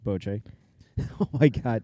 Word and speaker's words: bocce: boche it's a game sometimes pronounced bocce ball ball but it's really pronounced boce oh my god it's